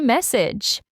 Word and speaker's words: message: So, pay attention to that vowel sound in the middle. Message has more of an e sound while massage has an a sound.